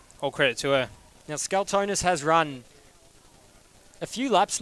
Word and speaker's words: Scalzonis: Just it's first name basis if that's all you can pronounce. But it's Scalzonis there on the outside.